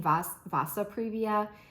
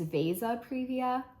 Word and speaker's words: vasa previa: I've been saying Vasa previa. I think it's Vasa previa, so I think I've been saying that wrong. But I watched like 4 different YouTube videos on Vasa previa of pregnant women that